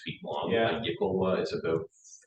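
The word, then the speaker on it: iklwa: Me, I've always had this, how do you pronounce this thing? Good qua. Oh, it's a Yickelwa, yeah.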